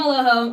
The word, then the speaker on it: Eloho: I am Eloho.